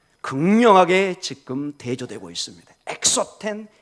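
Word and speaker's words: ἔξωθεν: 보면 굉장히 소리가 비슷합니다 것은 엑소 텐 속은 에소 텐 거의 발음이 비슷합니다 그래서 거의 구별이 안 되는 것처럼 보입니다 그러나 극명하게 지금 대조 되고 있습니다 엑소 팬 에소텍 언뜻 보면 이게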